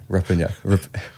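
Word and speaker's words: Rupanyup: pronounce Ruppanyup? Rapanyup.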